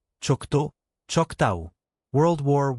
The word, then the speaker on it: Choctaw: Pronunciation note. Navajo, Nahvo, Choctaw, Choctaw.